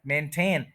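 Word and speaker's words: maintain: ठन प मेन न तो यह जो वर्ड है मेंटेन इसमें ये जो ए और आई है ये पूरा बोला जाएगा मेंटेन मेंटेन टू सिलेबल्स है और इसको इसके सेकंड सिलेबल पर स्ट्रेस है मेंटेन इसको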